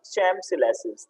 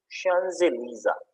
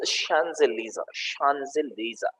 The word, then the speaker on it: Champs-Élysées: This word, the pronunciation of this word is not Champs-Élysées. The pronunciation of this word is Champs-Élysées.